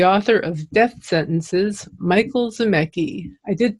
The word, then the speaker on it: Zimecki: to introduce the author of death sentences Michael szymek II I did pronounce that correctly this yes thank you good